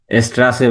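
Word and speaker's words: Straße: এটা হচ্ছে double S এর একটা কম্বিনেশন। যেখানে হ্যাঁ, ডাবল এস ব্যবহার হয় সেখানে ওরা ব্যবহার করে হচ্ছে এস সেট।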